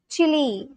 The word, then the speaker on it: Chile: The e at the end, it's pronounced too. Chile.